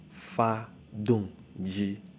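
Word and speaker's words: 发动机: Now, it is pronounced as fa dong ji.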